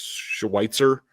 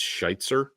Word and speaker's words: Schweitzer: it's not uh West Schweitzer actually I think it's shitzer is how it's pronounced um who they signed